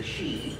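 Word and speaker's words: sídhe: the dead, and particularly the she, which is, once again, they need to buy a vowel, but that's how that's pronounced.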